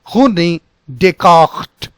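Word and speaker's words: René Descartes: respectful you are in terms of a correct pronunciation. So it is Marie Curie, Pierre Curie, and the first one was Rene Descartes, Rene Descartes.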